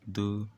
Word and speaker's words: do: it is not d or it is called do it is pronounced as do after this do there is